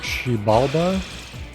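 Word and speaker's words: Xibalba: in innocent sin the ship is called shibalda uh but it's spelled uh like with an x like kind of like how the aztecs would spell it not sure why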